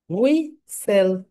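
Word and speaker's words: whistle: হয় না right S এর উচ্চারণ হয় এখানে সাইলেন্ট একটা লেটার রয়েছে এখানে উই সেল হুই সেল এটা হচ্ছে ক্যাসেল এটাকে বাংলাদেশি আমরা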